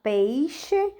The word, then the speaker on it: peixe: No dia a dia, você fala peixe ou peixe? Bom, normalmente nós falamos a segunda opção, né? Peixe. Muito difícil nós pronunciarmos o i.